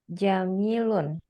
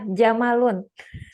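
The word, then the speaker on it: جمل: fikum silakan Barakallah nomor jamilun eh bukan jamalun Jamil apa jamala yang betul Iya jamalun Ustaz Nam Nah kalau jamalun itu enggak ada ynya kalau setelah mim ada ya dibacanya Jamil gitu hadza jamalun artinya apa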